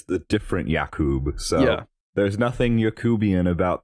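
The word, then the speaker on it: Jakub: is Adam Sandler as Yak y uh how do they pronounce it yak yak yeah it's it's w it's j a KU but anyway this is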